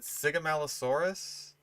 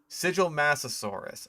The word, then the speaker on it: Sigilmassasaurus: Is it Sigamalosaurus? Sigilmassasaurus. Okay.